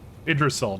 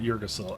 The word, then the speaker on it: Yggdrasil: Yggdrasil, not Yggdrasil. I keep wanting to pronounce the O.